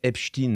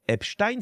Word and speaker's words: Epstein: Alors, on prononce Epstein sur le chat parce que ça fait plus russe. Alors, Epstein, ça fait plus quoi ?